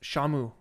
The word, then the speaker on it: Samu: So, pronounced Shamu. Pronounced like Shamu the killer whale.